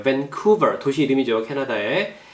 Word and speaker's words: Vancouver: Vancouver 액센트가 이음절이에요. Vancouver 도시 이름이죠.